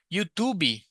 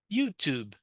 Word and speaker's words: YouTube: Youtuby. No YouTube. YouTube.